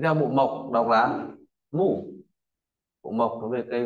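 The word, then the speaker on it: 木: Và tiếp theo bộ mộc đọc là mủ.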